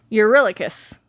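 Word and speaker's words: Eurylochus: Urillicus, that's how you pronounce that.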